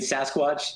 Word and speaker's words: SASCWATCH: I mean, Sasquatch is a is a program that's looking at that hurricane engine you you were alluding to it.